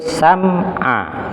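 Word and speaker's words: السمع: Nah, ada tambahan pantulan, itu salah. Ada tambahan suara sam'a, ada a. Nah, itu kalau ditulis huruf apa itu ya? Nah, jadi ada tambahan suara sam'a. Nah, jadi yang betul sam'a, sam'a. Wa ja'ala lakumus sam'a. Baik, jadi wa ja'ala lakumus sam'a, bukan sam'a, bukan sam'a, bukan sam'a. Jadi sam'a.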